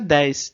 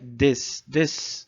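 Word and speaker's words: です: E o U vai ser meio apagado mesmo. Cuidado para não pronunciar 10, né? É para ser des, né? É um U quase que não sai, né?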